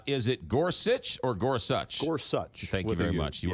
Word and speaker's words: Gorsuch: point is uh is it Gorsuch or Gorsuch Gorsuch thank you very much you are correct cuz that's the way pronounces it uh Clarence Thomas you know I